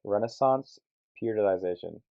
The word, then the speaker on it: Renaissance Periodization: So, my first one that I'm going to talk about is called Renaissance Periodization, RP strength for short.